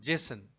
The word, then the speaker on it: JSON: the contents present in a CSV files JS pronounced Jason is a format that stores the information as